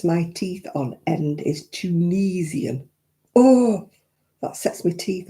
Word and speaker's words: Tunisian: Oh, I feel like I said it's Tunisian. It's got an I in it.